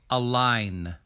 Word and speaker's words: align: is only one syllable we don't say align we say a line a line a line a